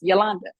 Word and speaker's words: Yolanda: Yolanda and it's pronoun it's spelled y l u n d a and it's pronounced Yolanda in my entire life